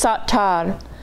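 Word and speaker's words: סתר: are the same letters the vowels are just different and it's pronounced different and instead of set it's satar satar okay and that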